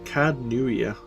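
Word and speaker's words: Caed Nua: We must then travel to Cadnuia. They've got a lot of silent letters in their kind of vocabulary. It's Cadnuia.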